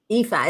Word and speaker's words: Epha: Epha. It's just like Eva with an F instead of a V. Oh, Epha.